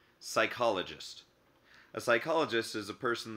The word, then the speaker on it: psychologist: plant and animal cells could also start with the letters P s like the term psychologist a psychologist is a